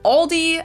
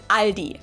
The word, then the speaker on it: Aldi: In English, people usually pronounce this Aldi. I think I've also heard Aldi before, but I think most people say Aldi. or they also sometimes add an s that isn't there in the end and say all these.